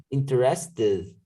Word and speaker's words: interested: El último sonido es el de la T, interest. Entonces, los que terminan con el sonido de la T y la D son los que se pronuncian con id en pasado, interested.